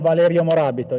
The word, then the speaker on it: Valerio Morabito: It's right, the pronunciation Valerio Morabito, yes.